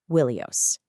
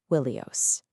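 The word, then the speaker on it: Ϝίλιος: Now, language experts figured out that in Homer's day, the Greek name for Troy, Ilios, would have started with a W sound. So it would have been pronounced Wilios. Wilusa, Wilios.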